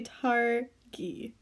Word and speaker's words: Targi: Dave will be teaching me how to play tari yes yes I pronounced it correct absolutely so why did you